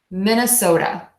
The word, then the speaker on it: Minnesota: soda like the drink think of it like that the endings sewed up can be like soda like you're drinking a Pepsi or a coke So Min Ah so duh Minnesota Minnesota Minnesota Minnesota Minnesota